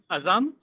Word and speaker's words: Azam: So, is Azam the correct pronunciation of your name? Aam. Yeah, it's basically aam.